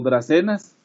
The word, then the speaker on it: dracaenas: Las dracaenas, que se pronuncian como dracenas, que se exportan, voy